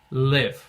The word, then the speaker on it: live: Quando é o verbo, a gente pronuncia live.